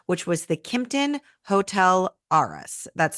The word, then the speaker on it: Arras: in downtown Asheville which was the kton hotel arus that's spelled a r r a s we absolutely